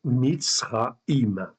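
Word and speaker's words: מצרים: comme dans le mot Mitzraïm. Okay, donc Mitzraïm, vous l'entendez quand vous le prononcez, vous avez ici Tsadé Resh. Okay, et ça se prononce Mitzraïm, okay, qui veut dire Égypte.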